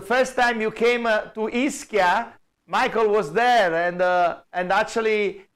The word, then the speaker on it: Ischia: So maybe he will come shortly back because I remember the first time you came to Ischia, Michael was there, and actually he was very proud that we showed the Merchant of Venice in Ischia.